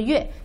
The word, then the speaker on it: 月: Okay, so first one, the word is yue, pronounced the yue.